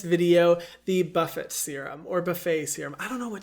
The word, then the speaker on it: Buffet: in the serum but a lot of people pronounce it buff it and i actually think that's the correct way to say it so boring anyway this